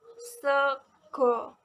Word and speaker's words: sego: Lalu ada kata sego. Dalam se ini menggunakan e jejak ya, karena itu penulisan dan pengucapannya itu sama. Pengucapannya itu seperti huruf vokal E dalam bahasa Indonesia.